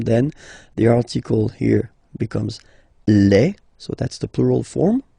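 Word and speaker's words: les: the article here becomes Le so that's the plural form okay Le and then same rule you just write leave and then you put S at the end but then you don't pronounce it so it's quite interesting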